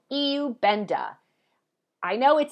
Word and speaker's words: Iubenda: gonna talk to you about today is called EU benda I know it says ru benda if you're in the United States but these are Europeans and the AI is now pronounced an e EU benta that's how you say it this is a